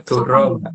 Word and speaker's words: dora: ars tumurun mering tribuana harusnya duro duro itu artinya bohong ya bacanya durong ya Mas iya oh tapi ee tetap tulisannya O nggih Mas tulisannya A O itu ee A itu kan baca bacanya bisa A bisa O, Mbak ee kalau O ya O Oh, oke.